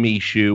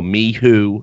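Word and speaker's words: MICHU: They're bringing in Mishu or Mihoo as apparently it's pronounced.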